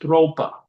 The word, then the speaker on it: Tropa: It was spelled Tropa, but pronounced Thropa.